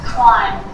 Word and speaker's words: climb: But in autumn, I'm not pronouncing the B, I'm just pronouncing the M consonant sound. Climb, crumb, land, thumb, dumb, plumber.